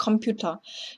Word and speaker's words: Computer: 예를 들어서 der Computer. 이거는 뭐 독일어식으로 읽으면 완전히 다른 발음이 되겠지만 그냥 der Computer. 영어랑 별 차이 없이 발음이 되고요.